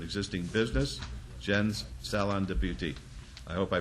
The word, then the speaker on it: Beauté: license to an existing business, Jen's Salon de Beauté. I hope I pronounced it right.